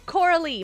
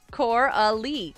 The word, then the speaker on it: Coralie: You pronounce my name Coralie. My name is actually pronounced Coralie.